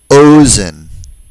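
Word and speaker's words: אוזן: They're all penultimately stressed. That is, they all have stress on the second to the last syllable.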